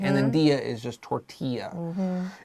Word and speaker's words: tortilla: And then dia is just tortilla. It's a corn tortilla. 不要那个 L 没有发音 don't say tortilla, right?